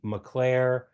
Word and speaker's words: Mockler: So that kind of makes me wonder, is the name pronounced Mockler or McClare? It may change over time, or one branch uses one. My neighbor says the name is definitely McClare.